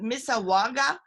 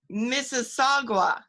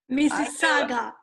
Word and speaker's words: Mississauga: director mariana barreto who is in is it misawa outside of toronto probably i said it wrong hi mariana she's laughing mr saga mississauga mississauga mrs saga okay see there we go thank